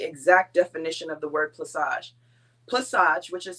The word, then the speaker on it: plaçage: to give the exact definition of the word placage placage which is spelled p-l-a-c-a-g-e and that c has a uh